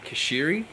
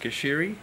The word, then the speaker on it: Cuschieri: Cuschieri is the way to pronounce my surname, so I know you guys have had a crack, but you've done well and good attempts, but it's pronounced Cuschieri.